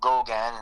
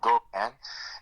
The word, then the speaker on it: Gogun: If you want to see my personal page, it's Gogan, and that's spelled Gogun. So Gogan.